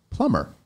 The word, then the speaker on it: plumber: no B in it the written B was added during the Renaissance when the intellectual realized